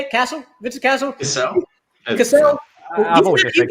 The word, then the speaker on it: Cassel: And Vincent, and Vincent, what Cassell or Castle? How do you say it? Castle? Vincent Castle? Cassell.